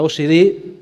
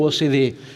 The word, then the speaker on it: OCDE: Vos decís OCDE, yo digo OCDE. A veces me preguntan ¿por qué? ¿Cómo se dice, Marcelo, OCDE o OCDE? Yo digo OCDE porque quiero resaltar la fuerza de la C. Y la fuerza de la C es la fuerza de la cooperación.